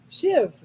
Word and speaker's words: shive: Shiv. Okay. Spelled SHIVE. Okay. Shive. No, it says the pronunciation thing Shiv. next to it is shiv. And it is a thin slice.